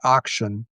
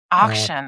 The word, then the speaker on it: Akchin: I usually say auction. Auction.